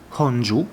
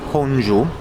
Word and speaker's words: Gongju: Sono nella città di Honju, dovrebbe pronunciarsi così, una città di circa